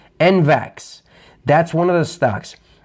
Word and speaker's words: NVAX: It's pronounced NVAX. N as in Nancy, V as in Victor, A as in Apple, X. NVAX.